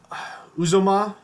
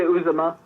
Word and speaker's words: Uzomah: that proven, to CJ Uzomah. Uzma? How do you say that name? I say Uzomah. Uzomah.